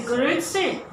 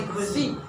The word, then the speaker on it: Grüezi: They will say Grüezi, and you have to have also the accent, yeah? Not only Grüezi, yeah? Grüezi, they sing, they go up. Grüezi.